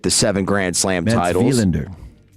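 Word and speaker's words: Wilander: I always knew cuz it's spelled with a W, but I always remember it's a V.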